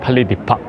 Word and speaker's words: Palais des Papes: I ask the exactly the accent pronunciation to a tour guide, and she told me that Palais de Papes.